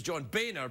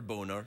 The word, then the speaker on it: Boehner: Go um that's uh his name is John Boehner but because of the way it's spelled yeah that's right that's right so all right we lose Witchy Poo but we've got Mr boner yeah in your p no you know too soon too soon no it's because of the way it's spelled it's not spelled like that it's mistaken for boner but it's not actually boner by the way mistaken for